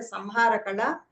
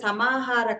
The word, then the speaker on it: samahara: It is not a samara. It is a samahara.